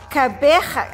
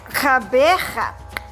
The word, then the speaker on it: Gqeberha: I mean, I know there's a click at the beginning and a at the end, you know, like you're clearing your throat, getting ready to spit, yeah, like in Gauteng. Okay, so it's Gqeberha.